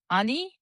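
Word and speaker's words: 아니: informal no is ani ani no ani so you just drop the last yo sound at the end so usually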